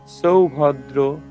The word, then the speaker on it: সৌভদ্র: ই করি উচ্চারণ বীরবান সৌভদ্র আমরা জানি দন্তস এর উচ্চারণটা ছ এর মত হয় এ কারণে উচ্চারণটা হবে সৌভদ্র দ্রৌপদে আসছ সর্ব এব